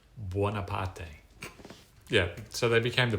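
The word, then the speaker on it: Buonaparte: So he um I think the Italian pronunciation of their name is Wapate.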